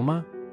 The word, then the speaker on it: 嗎: Uses ko to indicate its role as a question particle, and its pronunciation is based on ma. However, the tone shifts from the third tone of ma to a lighter tone in ma.